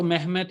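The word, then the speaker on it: Mehmet: मोहम्मद को महमद करके बोलते हैं।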